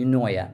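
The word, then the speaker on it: eunoia: me let me think e n o i a that would be unoa and this the meaning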